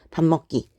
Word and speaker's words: 밥 먹기: 자, 그 다음에 밥 먹기를 생각해 보시면 일단 요 비읍이 뒤에 오는 미음의 영향을 받아서 밥 먹기가 되겠죠. 밥 먹기. 이렇게 발음을 하게 됩니다.